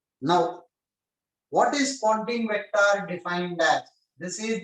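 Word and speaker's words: Poynting: poting vector firstly here you will pronounce this as poting though you will spell it as p y n t i n g don't consider po Pon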